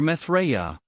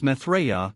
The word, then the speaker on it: Maitreya: the final destination is the New Age where Maitreya, the world teacher, arrives, is the nexus point where all of the Jesuit scientism meets its fruition.